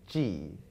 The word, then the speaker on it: Ji: little twist yeah because my name g shares the same pronunciation as the english alphabet letter g a b c d